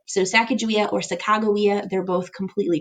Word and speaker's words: Sacagawea: and that is Sacagawea sometimes you'll also hear her name pronounced Sacagawea which is probably actually more accurate in Shoshone but a lot of people will still just call her Sacagawea including myself just kind of out of habit so Sacagawea or Sacagawea